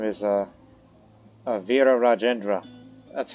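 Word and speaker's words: Virarajendra: that's the title and his name is uh Avira rajendra that's how you say his name despite the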